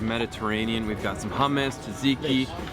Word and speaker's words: tzatziki: we've got some hummus Tzatziki although it's pronounced zazigi just being near the